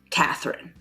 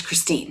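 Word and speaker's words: Kristine: been consistently and internationally called Catherine now my name is Christine spelled with a k um I'm very open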